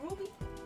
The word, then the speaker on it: RWBY: Isn't it pronounced Ruby? Sorry, I stepped off. Oh, I think it's pronounced Ruby.